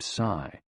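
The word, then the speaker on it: 呬: The 6 sounds are XU, pronounced like shh, with a deep sigh, which is associated with the liver. He, pronounced like her, with a yawn, which is associated with the heart. Si, pronounced like sir, with a slow exhale, which is associated with the lungs.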